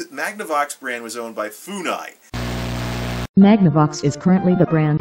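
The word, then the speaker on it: Funai: forever that was a fonai and I was like and I mispronounce it as like fungi instead of reading as fonai because I I don't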